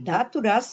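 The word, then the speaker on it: धातु: a doença pode ser datura carnav chamela, pode ser dato. Datu são os tecidos. Raça, raça se escreve d a longo tu.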